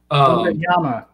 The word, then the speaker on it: Wembanyama: of course, they got Victor Wembanyama. There you go. Said that wrong. Wembanyama. I can say it right off air, but not on air.